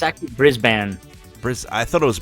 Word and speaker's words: Brisbane: YouTubes who's been educating me on how you pronounce certain places in in aussy land Brisbane I say Brisbane with an E yeah it's actually Brisbane bris I thought it was Brisbane or Brisbane